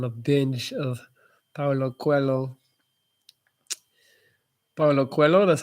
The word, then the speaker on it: Paulo Coelho: Paulo Coelho, that's how you say it, the author's name.